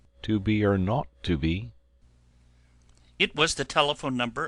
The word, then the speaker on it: 2BR02B: The 0 in the number he pronounced not. The number was 2BR02B.